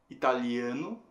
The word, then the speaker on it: Italian: Dando uma olhada em mais alguns exemplos, a gente teria italiano, italiano, que em inglês se torna Italian. Ta sendo a sílaba forte.